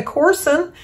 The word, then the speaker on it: Corson: Today is Gina Corson. It's C-O-U-R-S-O-N, but she said to spell it, to sound it out like Ourson, Corson.